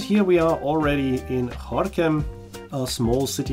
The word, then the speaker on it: Gorinchem: By the way, if you take a look at a map, you will see that this place is written Gorinchem, but it is pronounced Gorinchem.